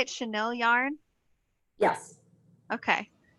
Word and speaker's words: Chanel: that how is that how you say it chanel yarn yes okay it's chanel yarn so it's it's potentially chanel yarn i think um it's very soft yarn i don't know anything about yarn so chanel camille chenille she is the expert yes yarn